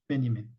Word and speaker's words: Benjamin: Walter Benjamin uh spelled as Benjamin but uh pronounced Benjamin um while he was not a core member